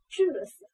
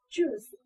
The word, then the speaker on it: juice: 记的时候呢，UI 组合发的是 u z u ju juice 啊，后面 CE 这是发什么呀？E 不发音。